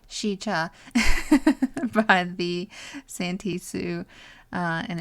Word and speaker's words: Sica: Unexplainable natural phenomenon resulted in fear-inspired legends and prompted the area to be named Sica, pronounced Sica, by the Santee Sioux, and it means bad.